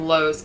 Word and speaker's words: Lowe: Lowe's family case and I keep saying Lowe's but it's low you're thinking of the store here because it's spelled l-o-w-e and I'm having a hard time like not adding an S that's what they did